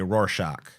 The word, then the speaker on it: Rorschach: Do I want to say Rorschach or do I want to say Rorschach? I think the ack. That's better, right? That's how it's pronounced.